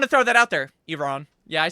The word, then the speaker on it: Iran: It's Iran. I know how it's pronounced. I I I mean, I didn't want to throw that out there. Iran.